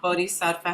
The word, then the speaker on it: bodhisattva: if a bodhisattva has wisdom.